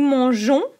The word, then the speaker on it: mangeons: Nous mangeons, we add an E, so then we can pronounce nous mangeons. If we miss the E, we pronounce nous mangeons. So don't forget the E.